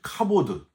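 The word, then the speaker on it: כבוד: 주로 하나님께만 쓰는 표현인데 히브리어로는 카보드, 헬라어로는 독사라고 발음을 합니다.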